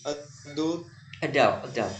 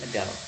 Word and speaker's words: adult: home, and millions more adult who have been Yes, bacanya adult, bukan adul, tapi adult.